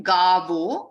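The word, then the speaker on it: गावो: Gavo, va, with the teeth touching the lower lip.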